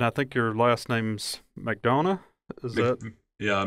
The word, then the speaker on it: McDonough: Well, Matt, we appreciate you being here, and I think your last name's McDonough, is that? Yeah, McDonough, yeah. McDonough, okay. Yeah. I don't pronounce anybody's name right, so please don't be offended.